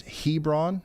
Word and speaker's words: Hebron: Uh, Hebrron, Kentucky is pronounced Hebron, not Hebrron.